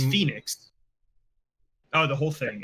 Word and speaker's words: Fenyx: Gods and Monsters have a new name: Immortals Phoenix Rising.